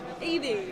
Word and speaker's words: Evie: Evie. Yes, one syllable. Why? No, 2 syllables.